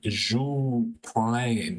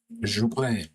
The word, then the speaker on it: Joux Plane: But he also released one called Joux Plain, I think is how you pronounce it. I don't know French, but Joux Plain.